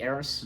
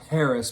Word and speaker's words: heiress: 11 the paris the heiress the heiress the heiress correct and the eighth the h is silent so yes so it's